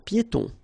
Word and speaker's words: piétons: Un passage pour piétons. Un passage pour piétons. Final S here not pronounced and then final E not pronounced.